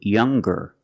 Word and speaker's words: younger: the n Sound now what happens when we change young and strong to younger and stronger or the youngest the strongest when we change these adjectives with ER or with est we're going to pronounce the G sound the hard G so it's younger ger with a good sound stronger the youngest again with